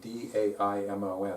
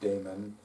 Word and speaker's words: daimon: The daimon, D-A-I-M-O-N, although it is spelled a little differently in different places, and it's also pronounced differently in different places. It's pronounced daemon by some people, but typically it's daimon.